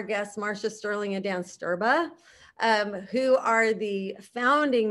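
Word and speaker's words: Strba: the end so yeah no it's pronounced sterba that's how we pronounce it okay and it comes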